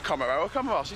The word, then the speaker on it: Comoros: And I asked someone, is it pronounced Comoro or Comoros? He said Comoros.